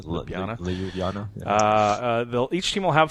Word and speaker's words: Ljubljana: I don't even know how to pronounce it. Ljubljana. Ljubljana.